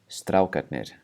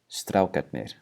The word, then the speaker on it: strákarnir: And then the last one, strákarnir, strákarnir. And for that one, you really should just pronounce it with the T sound, because whenever you have